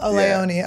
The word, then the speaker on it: Leone: theaters we got Damien Leon here am I saying it right yeah okay like baloney like below Leone okay I was not saying I was like Leo silent E I was giving you